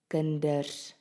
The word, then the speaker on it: kinders: Can you hear that the D which is now in the middle of the word is pronounced as a D?